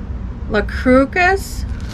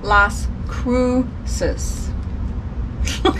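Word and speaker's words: Las Cruces: It sold for $8.07, and it is going to La Crucis. Oh my goodness, that's not how you say it.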